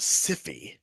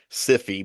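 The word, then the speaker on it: Syfy: spoken interview that now you have to pronounce it cify the cify channel and I was like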